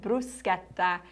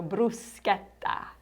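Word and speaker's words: bruschetta: You're in the restaurant and you would like bruseta as an appetizer. And you know now with learn Italian for travel that you pronounce the ch like a c not like a cha. So bruseta or you can simply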